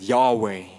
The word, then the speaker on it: Yahweh: Vielleicht wichtig zu wissen, im Hebräischen gibt es kein Vokal, es gibt nur Konsonanten. Und man weiss bis heute nicht ganz genau, wie man das ausgesprochen hat, die Konsonantenabfolge. Aber viele Gelehrte gehen davon aus, das ist ein Konsens in der Forschung, dass man den Namen so ausgesprochen hat.